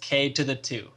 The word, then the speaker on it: Ktothe2: watched a video and it is pronounced k to the two anyways we're just gonna